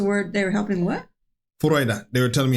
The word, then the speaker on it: Freude: Freude. They were telling me how to say Freude at the end. Oh, okay. They said it was like O-I. Freude.